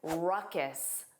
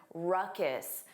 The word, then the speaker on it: ruckus: Let's review ruckus. Notice that pronunciation. Ruckus. The end sound is unstressed. Ruckus.